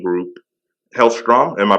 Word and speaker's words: Hellstrom: Now, your company is called the Hellstrom Group. Hellstrom? Am I pronouncing that right? Hellstrom, yeah.